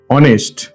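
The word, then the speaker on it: honest: সৎ দন্তেস অনত্য সৎ অনেস্টে দেখুন এইচ টা কিন্তু এখানে নীরব বা সাইলেন্ট আছে আমি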